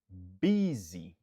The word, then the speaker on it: busy: Nous accentuer sous premier syllabe là. Be. Busy.